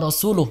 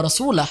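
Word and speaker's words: رسولُه: Ya, misalkan di awal-awal At-Taubah itu ada lafaz annallaha bari'um minal musyrikina wa rasuluh yang betul. Nah, ketika orang membacanya annallaha bari'um minal musyrikina wa rasulah, ini maknanya sudah sangat berbeda.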